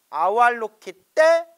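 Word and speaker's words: अवलोकितेश्वर: 그래서 저도 아발로키테 슈아라라고 우리가 흔히 그냥 습관처럼 발음하는데 엄격히 이제 문장의 단어의 발음을 끊어치면 아발로키테, 아왈로키테 슈아라라고 한다고 합니다.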